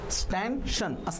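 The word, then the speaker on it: stanchion: So column or स्टॅन्शन एकच मिनटं, ही स्टॅन्शनची spelling बघा, CHION स्टॅन्शन ऑर पोस्ट स्टॅन्शन असं त्याला रीड केलं जातं.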